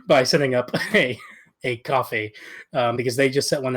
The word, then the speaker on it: Ko-fi: people a cup of coffee. I think it's called coffee. I have always pronounced that thing Ko-Fi.